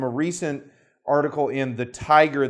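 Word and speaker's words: Thaiger: recent article in the tiger that's Tiger the tiger calm and tiger is spelled th AIG er the title of the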